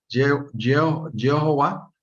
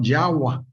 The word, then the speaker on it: Yahweh: O sea, es otra vocal y me decía él, entonces no puedes pronunciar Jehová, sino Yahweh. Y también él decía que la Vao no se pronunciaba como V, sino se pronunciaba como W.